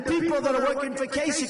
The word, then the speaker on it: Kasich: So they formed this coalition of Cruz against Kasich. even though it's pronounced ICH, it's Kasich with a K, like with a K, okay?